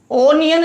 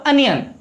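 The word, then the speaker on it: onion: देखो भाई साउंड देखें, ऑरेंज ओ स्वर है, इसका साउंड आ से होता है भाई, ओनियन नहीं बोलते, प्रोनाउंसिएशन होगा अनियन।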